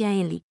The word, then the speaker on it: 헨리: », en coréen il s'écrit 헨리 et se prononce « henli », contrairement au mandarin, il s'écrit 亨利 et prononcé « hengli ».